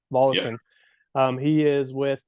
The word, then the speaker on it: Volosin: Volosin. Volosin?